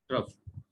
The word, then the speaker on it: trough: ये वाला जो है ये क्रस्ट है जिसके स्पेलिंग है CREST। और ये नीचे वाला जो है इसको हम ट्रफ कहते हैं। TROUGH, ट्रफ।